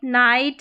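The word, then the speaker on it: night: जी H silent रहेगा, ठीक है, यहाँ पर जी एच का उच्चारण नहीं होगा। जैसे यहाँ पर देखें जी एच के बाद में टी है, ठीक है, जी एच है और जी एच के बाद में टी भी नज़र आ रहा है, तो यहाँ पर जी एच का उच्चारण नहीं होगा। लाइट, नाइट, हाई और यहाँ पर है राइट, इस तरीके से पढ़ना है।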